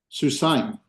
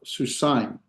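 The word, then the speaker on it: סוּסַיִם: Susine. Yeah. So susain. So not that would that would put two different sounds in the vowel, but susain.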